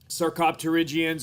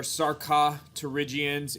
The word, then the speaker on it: Sarcopterygians: groups of bony fishes, Sarcopterygians or Sarcopterygians, and Actinopterygians or Actinopterygians, depending on whether or not you want to pronounce that P.